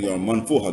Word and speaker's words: Manfuha: To the audience, Saryato is in the Manfuha District. Did I pronounce that correctly? Yes, yes. Alhamdulillah.